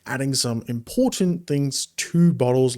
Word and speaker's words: Bottles: gaming outside of steam uh bottles or bottles is what I usually like to pronounce it as.